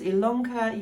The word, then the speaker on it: Ilonka: lanka my name is ilonka yes it's spelt with an eye but pronounced with an